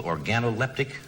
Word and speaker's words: organoleptic: Did I pronounce that right? That's right. Analytical Organoleptic That's right.